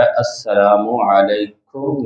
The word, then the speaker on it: السلام علیکم: اسی طرح کرنا چاہیے۔ اس کا تلفظ جو ہے السلام علیکم ورحمۃ اللہ وبرکاتہ، یہ سلام کا انداز ہے۔ اور نبی کریم صلی